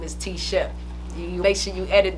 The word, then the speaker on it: T Shep: how that happened you know what happened bro t-shirt t-shirt t-shirt so what was you saying my name that's my name is t Shep you make sure you edit that out um